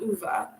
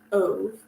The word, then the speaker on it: Ove: to a man called UVA um when I saw the book title I thought it was a man called ove but if you listen to the audiobook you get the correct pronunciation I also have another